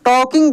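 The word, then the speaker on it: talking: आई एन जी टॉकिंग यहां पर भी दोस्त एल जो है साइलेंट हो जाएगा इसको हम लोग टॉकिंग बोलेंगे घरे क तो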